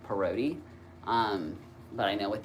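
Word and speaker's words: Parodi: I changed it to Px R O D I which it's said parody.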